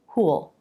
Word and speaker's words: who'll: For who, it doesn't really feel like an extra syllable. Who'll.